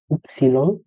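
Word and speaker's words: Ypsilon: ওয়াই কে বলা হয় উপসিলন, উপসিলন। জেড কে বলা হয় সেট, জেড এর উচ্চারণ হলো সেট।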